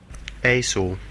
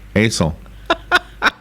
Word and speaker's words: IJssel: The river is spelled IJSSEL. Do you want to hear how it's pronounced by an official Dutch? Sure. Yeah. Okay, ready? Here it goes. Aesel. Aesel.